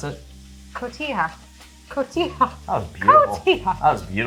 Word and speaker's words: Cotija: We had taco night the other night, so I've got this cotija. You're of Mexican descent. How do you pronounce it? Cotija.